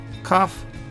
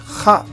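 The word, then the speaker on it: כ: If there is no dot here, it is pronounced kha, and when there is a dot, you pronounce ka.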